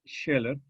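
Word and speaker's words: Scheler: parte del siglo XX heller que se escribe con ese cheque y una l no una l heller Max sheller que en su tratado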